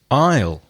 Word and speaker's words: aisle: right and another homophone with three possible words aisle so aisle can be the contraction of I